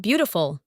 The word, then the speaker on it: beautiful: Important hoặc beautiful. Beautiful. Phần đầu được nhấn mạnh.